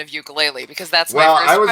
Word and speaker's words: ukulele: Well, the actual Hawaiian pronunciation, which of course it is a Hawaiian instrument, Hmm. is ukulele Hmm.